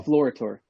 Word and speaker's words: Deflorator: In English, you would say Deflorator, I guess. But that's how I say it, well, Deflorator.